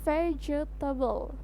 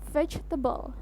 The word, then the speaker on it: vegetable: yang ketiga adalah tebel jadi kita menyebutkan ada tiga suku kata vegetable Nah itu salah ya teman-teman yang benar adalah diucapkan dengan 2 suku kata saja atau di dalam bahasa Inggris biasa disebut selebay atau suku kata yaitu vegetable jadi hanya terdiri dari dua kata Inget ya vegetable the